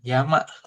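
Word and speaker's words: 山: Kanji gunung. Heeh. Yama dibacanya.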